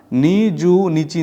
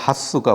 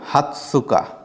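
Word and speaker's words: 二十日: হল আমাদের এই 20 এটাকে আমরা নিজু নিচি না বলে আমরা এটাকে হাসুকা বলব এটার অর্থ হচ্ছে 20 তারিখ আমরা আরেকবার বলি 20 তারিখকে আমরা বলব হাতসুকা হাতসুকা এ বড় তস এজন্য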